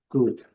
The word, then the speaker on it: could: Coloquei aqui também would e would, sempre lembrando, nenhum dos dois é pronunciado, nem o O nem o L, e a pronúncia é bem curta e rápida, should, could.